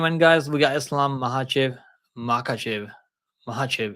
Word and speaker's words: Makhachev: guys we got Islam mahv MV mahv is it mahv or is say makv I think mahv right Dagan say mahv Islam Mah versus makv Mah I think Mah the K is silent maybe so guys we got